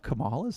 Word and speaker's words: Kamala: Comma, like the little dash thing.